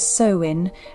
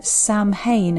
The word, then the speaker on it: Samhain: Firstly, it's generally pronounced as Samhain rather than Samhain as you may call it, as the name